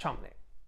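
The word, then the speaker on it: Cholmondeley: chumley famously it's written cho mondly but it's pronounced chomny he is 20 odd years her senior she's 37 now he's 61.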